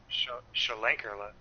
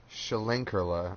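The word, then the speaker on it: Schlenkerla: do you say it shelling Karla shelling Karla oh so there's like a little hidden letter in between the Shea and the hell yeah German language words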